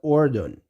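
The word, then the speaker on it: الأردن: of yarden or Jordan they pronounce the Jordan in Arabic to pronounce is that Ordon so which is very close to yard and that uses Arden it's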